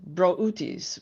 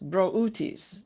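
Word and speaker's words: Brutus: Now, you're going to crack up because this is how you really say it. We've had this discussion, but I went looking today, and it is bro. Sorry. Wait. Brut brutis. Broutis. Broutis. That's how you say it.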